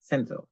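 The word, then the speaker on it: Cinzel: Let me just try and see if I can Senzo. That's what it is. And that's spelled C I N Zel.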